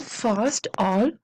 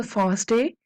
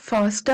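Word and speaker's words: FASTA: faster faster stands for fast all which pronounce a fast a it is not faster actually fast a and it stands for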